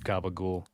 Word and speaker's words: capicola: The New Jersey, New York Italian accent of saying, is it capicola? Capicola, this sliced deli meat you can get, and I think in that accent they just call it gabagool. It's just evolved into that pronunciation.